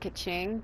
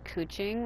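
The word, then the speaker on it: Kachina: thank you very much the way they say her name it's like it's like they're saying ku instead of ke i've always said kaching but other people say kuching like there's a like it's a you and i don't really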